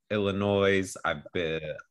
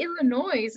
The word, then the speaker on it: Illinois: I've lived in Illinois. Wait a second. You say Illinois and people were like telling me, oh, it's Illinois.